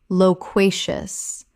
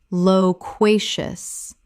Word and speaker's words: loquacious: Common mispronunciation. Loquacious. Correct pronunciation. Loquacious. Three syllables with the stress on the second, meaning very talkative.